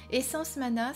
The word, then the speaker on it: Essence Mana: Essence Mana, ça s'écrit, comme vous le voyez, comme ceci, et ça se prononce Essence Mana. Essence Mana, c'est une entreprise française basée en Savoie qui fabrique de façon artisanale des objets spirituels.